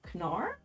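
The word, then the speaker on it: Knarr: higher player counts um you're supposed to pronounce the k in canar whoa all right somebody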